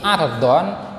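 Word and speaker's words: عرض: Hai wajah atap don't ini bacanya adalah adon-adon kalau argon Ain pokoknya itu mati ardon itu artinya adalah lebar kalau dibaca erdon atau Airborne itu nama artinya memiliki arti Perangai yang baik atau tabiat yang baik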